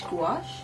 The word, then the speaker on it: gouache: And usually Gouache? oh, we looked it up how to pronounce it.